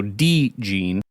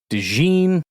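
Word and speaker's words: DeeJean: D-E-E as in D, and that's where the emphasis is, so D-Gene, not DeJean, with the emphasis on Gene or Jean, and it's not duh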